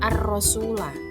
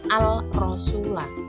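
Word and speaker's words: الرسول: itu ada huruf ro maka al-nya tidak terbaca langsung diamkan ke huruf yang ro menjadi arasula cara bacanya tidak Al rasula tapi arasula kemudian kita lihat contoh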